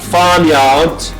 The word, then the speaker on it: farmyard: Because in British accent, you don't pronounce the R. Usually it is dropped, okay? Farmyard. There is the R there, but they don't pronounce it, okay? But Americans, farmyard, if you retroflex R, okay?